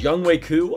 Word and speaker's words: Younghoe Koo: of surprising i think it's young wei ku uh shout out to max told me is the right pronunciation i mess it up